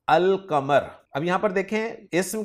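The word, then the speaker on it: القمر: अल कमर में अल के लाम को प्रोनाउंस किया जा रहा है जबकि अशम्स में अल के लाम को प्रोनाउंस नहीं किया जा रहा।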